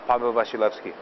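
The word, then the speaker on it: Paweł Wasilewski: Can I pronounce my real full name on camera? Uh, my real full name real uh Pablo Bashilki.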